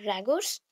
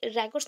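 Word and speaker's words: Rogers: Allport that is called रैगोर्स. Actually रैगोर्स नहीं होगा रोगर्स होगा. स्पेलिंग रॉन्ग है.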